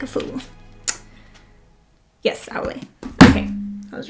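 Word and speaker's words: Aulë: These are all the different pronunciations that I looked up because I didn't want to sound like a fool. Yes, Aule.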